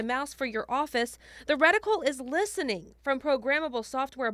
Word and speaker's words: Retinal: The Retinal. That's how it's pronounced.